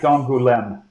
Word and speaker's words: Angoulême: How do you pronounce that? Marguerite d'Angoulême.